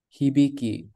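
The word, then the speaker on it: 響き: this right here is pronounced as he biki from hibiku hibiki hi the first sentence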